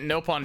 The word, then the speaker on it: Nopon: I'm only pronouncing it Nopon because this is Xenoblade X and it's Nopon instead of Nopon in this game.